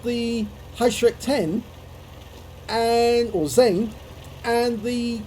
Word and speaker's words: Heuschreck: In fact, I believe the Germans tried to teach me how to pronounce the name as Heuschreck.